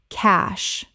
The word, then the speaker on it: cache: al ga riv um algorithm Word 77 cache common mispronunciation cachet correct pronunciation cache One syllable only. It rhymes with cash. The e is completely silent.